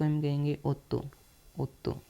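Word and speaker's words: otto: सेत्य ठीक है आठ को हम कहेंगे ओतो ओतो ओ डबल टी ओतो ओतो को हम कहेंगे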